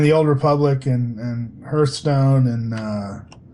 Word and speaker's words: Hearthstone: Old Republic and and hearstone and uh although everybody pronounces it Hearthstone I know that's how blizzard officially pronounces it but they're wrong um yeah and of